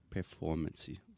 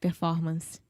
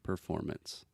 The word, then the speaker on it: performance: a lot of our students want to say performancy performance yeah so we do not pronounce that final e it's just performance performance perfect okay like I said two more